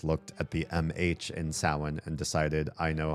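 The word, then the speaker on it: Samhain: is also also pronounced besides being pronounced sin they said there's an alternate pronunciation called Sam Hayne and I said you are wrong. There is not an alternate pronunciation of Sam.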